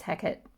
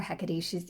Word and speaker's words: Hecate: guidance messages though from goddess hackett or hecate it's pronounced in different ways depending on where you're from um so par one